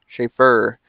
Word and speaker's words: Shafer: named this and the name of shaper not shaper schaffer god i can't even